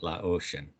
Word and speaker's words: Laotian: to pronounce it, Laotian.